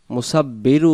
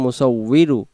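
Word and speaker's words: مُصَوِّرُ: বারিউল, বারিউল, মুসাউবিরু, মুসাউবিরু, মুসাব্বিরু উচ্চারণ হবে না, অনেকে আমরা মুসাব্বিরু বলি সূরাতুল হাশরের ক্ষেত্রে, এখানে মুসাব্বিরু উচ্চারণ হবে না, উচ্চারণ হবে মুসাউবিরু, ওয়াউজের উই, র পেশ রু, মুসাউবিরু।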